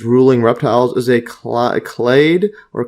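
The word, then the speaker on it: clade: see the pronunciation on this one here clay yeah so they call it clay yeah so is it clay I've been calling it clad slcl yeah basically trying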